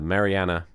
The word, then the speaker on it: Marianne: Uh, Mariana is how I say it and it's just comes naturally to me.